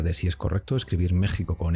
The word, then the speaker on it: México: Incluso en algunos casos se debate también si la X de los Estados Unidos mexicanos debería pronunciarse como J o como SH, México.